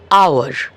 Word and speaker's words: hour: যেমন HOUR, আওয়ার, আর অর্থাৎ ঘন্টা। এই আরে এইচটা কিন্তু সাইলেন্ট, যদিও এইচ কনসোনেন্ট। উচ্চারণ শুরু হচ্ছে ও থেকে। OUR আর যেভাবে উচ্চারণ করা হয় HOUR আরও ঠিক সেইভাবেই উচ্চারণ করা হয়।